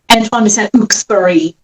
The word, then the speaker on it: Saint-Exupéry: Antoine de Saint-Exupéry. Really? Wait, say it. Antoine de Saint-Exupéry. Exupéry. I love it. I've said it wrong my entire life. Just like I said Carrie Elwes's